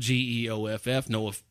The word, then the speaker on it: Geoff: It's the Jeff that's spelled Geoff.